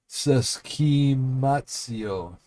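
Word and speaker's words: συσχηματίζω: Okay, so Greek, the word is, all right, I'm going to spell it first. S-U-S-C-H long E, M-A-T-I-Z long O. Seskimatio.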